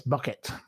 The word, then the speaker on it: Bucket: It's pronounced bouquet. Well, it's not really. It's bucket as we all know.